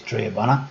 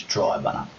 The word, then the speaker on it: Triabunna: believe even though in the video I use Tre buner that the correct pronunciation is Tri bunner yes there's still a lot to do around